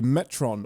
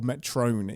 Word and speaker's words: Metron: reveals themselves to be a Metron or Metron if you are of the Kirk pronunciation school of pronouncing things and says gives a